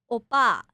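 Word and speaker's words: 오빠: Oppa.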